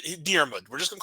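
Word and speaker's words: Diarmuid: Irish pronunciation, Diarmid.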